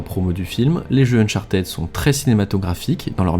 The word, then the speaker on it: Uncharted: jeux j'ai nommé uncharted et si vous faites partie des gens qui disent uncharted arrêtez s'il vous plaît et oui la prononciation anglaise c and child et donc on est plus proches de ted que de ty c'est un élément qui